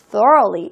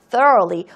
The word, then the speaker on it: thoroughly: 제대로, 철저하게, thoroughly, 이 발음 유의해 주세요. thoroughly, 또 roughly가 아니고요. thoroughly, thoroughly. 이거는 따로 꼭 학습해 주세요. 또 roughly라고 읽으시면 안 돼요.